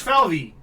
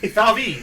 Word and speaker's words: Falvey: You're pronouncing it wrong. Falve. Falvey. No, it's an E. I thought it was like Valve, like Favre. Moving on. That's what I read it as. It's valve like the valve.